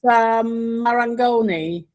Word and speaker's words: Marangoni: I don't even know how to pronounce it. You're the Italian. It's Marangoni.